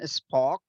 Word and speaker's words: spoke: Do you understand spoke? No, teacher. Habló. S- Speak, spoke. Spoke. My mother spoke with my teacher. Exactly. My mother. And don't forget to pronounce K. Spoke.